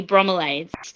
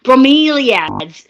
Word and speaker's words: bromeliads: Um, there's this beautiful display where we're selling these little mini bromelades. Bromeliads. That's how you say it, right?